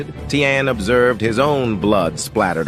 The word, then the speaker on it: Taehyun: And I think we've been saying his name wrong too. I believe it's pronounced Taehyun.